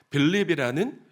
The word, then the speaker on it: 필립: 있었던 것 같아요 왜냐하면 필립이라는 이름 때문에 그렇습니다 여러분 빌립이 빌립을 헬라 식으로 발음하면 필립이 되거든요여 필립이 누굽니까이 필립은 기원전